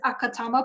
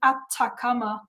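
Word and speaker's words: Atacama: I'm going to mispronounce it every single time because the acronym is ACT. So my brain reads it as Akatama, but it is the Atakama Cosmology Telescope.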